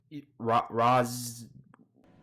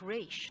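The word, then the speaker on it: Ra's: Raz. Though father's name was pronounced Raish, not Raz. A common mistake.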